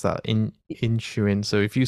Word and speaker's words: Inisherin: Read that one out because I can't pronounce that in Inisherin.